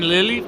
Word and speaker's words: Lille: In Lille, France. It's not Lily.